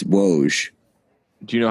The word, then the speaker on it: Woj: listener to be fair i also pronounce pronounce uh wash do you know i that up too it's woes do you know how